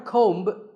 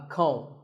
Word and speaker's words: comb: Not a comb, a comb.